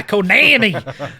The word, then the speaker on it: Konami: A game from Konami that is, did I say it right? Yes, you did. Konami!